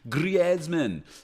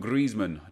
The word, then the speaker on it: Griezmann: take that Griezmann there Griezmann I used to call him Griezmann didn't realize he was called Griezmann until I listened to commentators say his name anyway brilliant started his